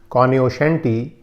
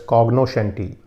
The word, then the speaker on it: cognoscenti: The next word I have is cognoscenti. It's also sometimes pronounced as cognoscenti, that's C-O-G-N-O-S-C-E-N-T-I, and cognoscenti